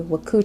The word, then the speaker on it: WKU: the right answer we have something called a waku chart a waku chart has w k u and it's pronounced wahku in the waku chart we have